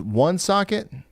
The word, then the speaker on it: Woonsocket: Woonsocket is pronounced one socket.